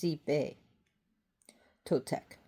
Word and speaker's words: Xipe Totec: It will be on Xipe Totec. Xipe. It's pronounced Xipe Totec.